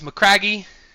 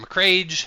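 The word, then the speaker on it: Macragge: Space marine home worlds mccragi or mccrag or mccrae, however you want to pronounce it.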